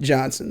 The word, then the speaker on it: Djohnson: NS o and gent Johnson the D is silent I know it's dumb